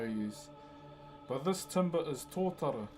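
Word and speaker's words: tōtara: But this timber is to t o t a r a one of the softest native timbers we have.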